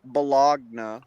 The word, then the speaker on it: bologna: it's spelt Bologna, but it's pronounced bologna.